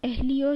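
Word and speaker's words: Lyon: इसका हेडक्वार्टर लियो में, लियो इसको बोला जाता है, एन साइलेंट होता है, लियो फ्रांस में इसका हेडक्वार्टर आपको देखने को मिलेगा।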